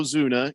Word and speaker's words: Ozuna: of the fourth inning marcelo zuna is that how you say his name ozuna yeah hey he's up